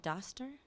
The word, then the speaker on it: Doster: Luke and I'm going to say your last name wrong I should have asked is it Doster okay epic Venture attractor thank you Sam